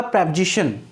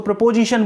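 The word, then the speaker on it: preposition: बताया ही था कि कई लोगों के साथ तो प्रॉब्लम यह है कि उसका प्रोनाउंसिएशन ही गलत करते हैं, इसको प्रीपोजिशन बोलते हैं। तो आपको प्रीपोजिशन नहीं बोलना, इसका करेक्ट प्रोनाउंसिएशन जो है प्रेपोजिशन है।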